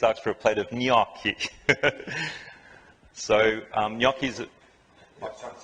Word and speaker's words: gnocchi: Some people do say Gnocchi, but the proper way to say it, if you follow the phonetical spelling there, is ny, and then ki, gnocchis. You really have to roll. It comes from the nose.